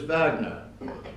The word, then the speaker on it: Wagner: Djokovic made the famous reply 9w it was vogner the winner once asked is your name spelt with a V here Wagner he responded 9w